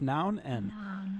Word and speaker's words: Non: It's pronounced Noun.